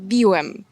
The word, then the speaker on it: biłem: In Polish we have many words where changing just one sound changes the meaning completely. A common example are the words "byłem" and "biłem".